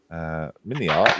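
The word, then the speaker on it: MiniArt: Mini art rhymes with multi-parts, says Jim.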